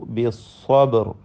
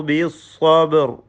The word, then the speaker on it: الصبر: വതവാസൗ ബിസ്സബ്ർ, സ്വാദിനും തഫ്ഖീം നൽകണം. ബാഇൻ്റെ സുക്കൂൻ ശബ്ദം ചലിപ്പിച്ചുകൊണ്ട് ഖൽഖല നൽകി ഉച്ചരിക്കണം. സ്വബർ, സ്വബ് എന്ന് വ്യക്തമാക്കി ഉച്ചരിക്കേണ്ടതാണ്. റായിൽ സുക്കൂനോടുകൂടി തഫ്ഖീം ചെയ്ത് ഉച്ചരിച്ച് വഖഫ് ചെയ്യണം.